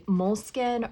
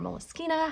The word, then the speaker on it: Moleskine: would not use is a Moleskine or Moleskine or Moleskina, however you'd like to pronounce it is fine with me.